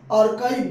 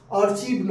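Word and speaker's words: archive: মোবাইলে আছে, এটা জানো সবাই, আর্কাইভ বলে উচ্চারণটা, আর্চিভ নয়, আর্কাইভ।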